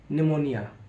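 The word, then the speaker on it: pneumonia: एन को नहीं पढ़ा अब हम बात करते हैं पी साइलेंट होता है पी कब साइलेंट होता है एन और एस से पहले पी साइलेंट होता है जैसे एग्जांपल है पी एन ई यू एम ओ एन आई ए निमोनिया देखिए एन से पहले पी को नहीं पढ़ा गया नेक्स्ट एग्जांपल है पी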